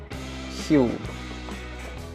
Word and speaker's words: Huel: So this year, UK startup has come up with Huel, which is, I think, meant to rhyme with fuel, but it also, rather unfortunately, rhymes with gruel.